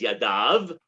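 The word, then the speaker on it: ידיו: even say his hand it says yadav that's the right way to pronounce it even though it says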